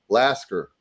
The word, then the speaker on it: Lasker: It's like the town is Lasker, right, Stevie? Am I right on that? Yeah, that's right. Lasker. But it sounds like some redneck that would like try to pronounce Alaska, the state, is the way I always think of.